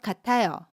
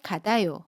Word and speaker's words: 같아요: the final consonant ‘ㅌ.’ ‘ㅌ’ is pronounced as the same ‘ㅌ’ not [ㄷ]. For example, '철수는 공부하는 것 같아요.' (I think 철수 is studying.) How would you pronounce it? is wrong.